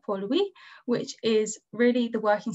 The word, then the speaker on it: Port Louis: city of mauritius is port louis and this is pronounced more like pollui which is really the